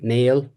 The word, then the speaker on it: meal: Um I don't think it uh is an English name in this case uh for one reason, the traditional pronunciation would be male rather than meal.